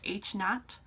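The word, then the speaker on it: H₀: subscript of a zero our null hypothesis is pronounced h naught uh it is a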